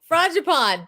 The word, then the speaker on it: frangipane: Like seriously, it's and I don't pronounce anything right, but frangipani. That's it, frangipane.